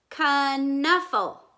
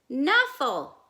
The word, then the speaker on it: Knuffle: and then sonia talks canuffle that's how to say the name of the bunny knuffle conuffle knuffle remember last time i told you you could say it two ways they're arguing over